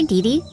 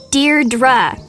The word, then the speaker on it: Deirdre: Hi, Dee Dee. Deirdre. I know it's got that tricky second syllable, but I figured it out by age 2.